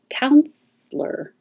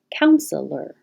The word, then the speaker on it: counselor: say this two ways you can say with two syllables counselor counselor or three syllables counselor counselor because this e is not stressed it's possible to just skip it the t is really